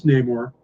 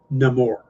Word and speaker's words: Namor: seen in the clips tinakuerta who's playing Prince Neymar pronounces his name Namor he says very clearly my enemies call me